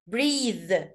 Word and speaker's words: breath: breathe breathe يتنفس، علشان اخرها ايه فنطقتها breathe. طب انا لو شلت الايه في الاخر هتبقى اسمها breath، نفس. شفت الفرق في النطق ايه؟ رغم ان هي برضو لو شلت الايه المفروض تنطق breathe برضو، بس بنطق breath، انما بالاي دي اسمها breathe breathe breathe.